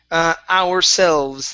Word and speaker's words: ourselves: Okay, let's go to ourselves. Let's make sure to pronounce this S here at the very end.